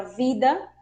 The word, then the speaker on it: vida: Veterinária, porque o V possui o som de B. B, né? Só lembrando, todas as palavras que a gente vai pronunciar com V, a gente vai colocar um leve som como se fosse o B, né? Por exemplo, a palavra vida, decimos vida, ¿sí?